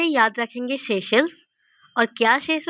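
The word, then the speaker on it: Seychelles: लामित्य, India और सेचेल्स। दिखने में सेचेल्स है लेकिन इसका प्रोनाउंसिएशन है सेशल्स, सेशल्स। जो शेष है, यहाँ पर शेष आ रहा है, शेष।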